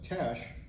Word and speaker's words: Teche: in t in uh in French and Spanish I don't think you would pronounce the h so that would be Tesh uh what is that